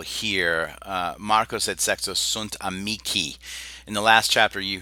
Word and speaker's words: amici: So that AE has the I sound in classical pronunciation, and the long I has the E sound.